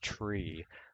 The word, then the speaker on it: trie: You know, TRIE, it's actually tree, but nobody knows what tree you're talking about, so people started calling it try.